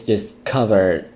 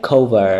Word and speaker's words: discover: This is a very problematic word that a lot of students make mistake when they pronounce this word, because the student usually say something like cover. I don't know. Maybe because of the word cover is easier to say, but it is not cover.